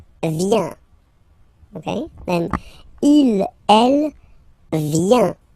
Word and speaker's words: vient: Okay, then il, elle, vient. Final T not pronounced.